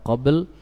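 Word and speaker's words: قبل: Sebagaimana tadi syahar, ra-nya tidak boleh hilang, demikian pula pada kata qabl, lamnya tidak boleh hilang. Min qabl. Caranya gampang, setiap huruf berikan haknya, ya kan?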